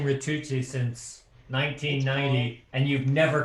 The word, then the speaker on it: Ritucci: Ken and I are good friends, and I bet he will never say this, but his pronunciation of his name is Ritucci, rhymes with AC Ducey, okay?